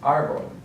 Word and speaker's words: árbol: So we have the accent mark on the first syllable, so that's what we're going to emphasize, árbol.